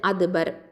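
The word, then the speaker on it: أدبر: அடுத்தது அதுபர். Hamza Fattah தால் சுக்கூன் அது. இதில் தாலில் சுக்கூன் இருக்கிறதுனால இது கல்கலத்து சுகரா லைட்டாக கல்கலாக கொடுக்கணும்.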